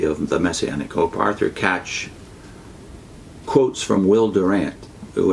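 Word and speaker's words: Kac: It's by a Jewish Christian by the name of Arthur Katch, I believe it's pronounced K-A-C.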